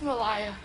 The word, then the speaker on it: Malaya: little self being the next American I hey Malia hi it's Malia it's Malia Malia I'm sorry thank you it